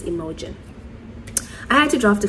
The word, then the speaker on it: Imogen: I pronounce it as, you know how you say emoji? I pronounce her name as Imogen.